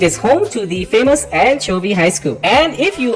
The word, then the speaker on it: Anchovy: And Muslim Junior, people on that side they pronounce that way because we don't say anchovy. We say anchovy.